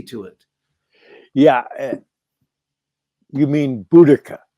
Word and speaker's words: Boudicca: piece of reality to it yeah you mean Boudicca it's pronounced Boudicca an Anglo-Saxon yeah excuse me I I'm not